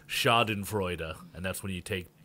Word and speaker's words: Schadenfreude: Yeah, and that's actually the actual, if I get close to the pronunciation, it's Schadenfreude, and that's when you take joy in the misery of others, or the misfortune of others, yeah.